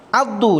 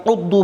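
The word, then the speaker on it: عَضّ: Addu dibaca dengan fathah pada huruf ain, addu, bukan uddu, bukan iddu, dibaca fathah pada ain, sedangkan membacanya dengan dhammah adalah keliru. Ghalat.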